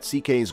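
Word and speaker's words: Székely: to Mexico and met CK's grandmother, who was a Mexican with Spanish and indigenous Mexican ancestry. Louis Sekeliu is his given name, pronounced CK.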